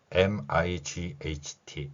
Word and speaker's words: might: MIGHT 이렇게 되어 있죠. 똑같은 원리로 적용됩니다. M은 미음이고요. I는 I. G하고 H는 소리가 나지 않고 T는 티읕으로 소리가 납니다. 그러면 might 이렇게 표현하고 발음할 수 있다는 것이죠.